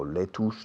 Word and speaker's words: lettuce: No, lettuce, no. How do you spell it? L-E-T-T-U-C-E. Lettuce. But we pronounce it lettuce.